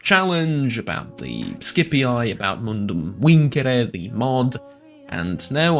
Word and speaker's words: Mundum Vincere: the mod, and no, I'm not going to stop pronouncing it the annoying way, just because it also happens to be the correct way. I understand that the accent and the what are they called? The long vowels, I think? Vowel lengths? I think that's what they're called, grammatically speaking. Might be a bit annoying to some, but it's how the Romans would pronounce it, so take it up with them, I guess.